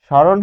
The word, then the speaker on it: স্মরণ: দন্ত স এর উচ্চারণ, দন্ত স এর উচ্চারণ তালব্য স তখনই হয় যখন এর সাথে বফলা থাকে এবং ম থাকে, মফলা থাকে।